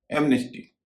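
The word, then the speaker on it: amnesty: अगर एम और एन शब्द के बीच में है जैसे एमनेस्टी इसमें एन का उच्चारण हो रहा है।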